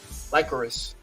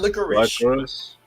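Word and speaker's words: Lycoris: i'm gonna get into uh lycaurus recoil not licorice oh i'm trying to pronounce the name right okay like uh like quarters yeah like chorus lacrosse yep like chorus recoil now this one now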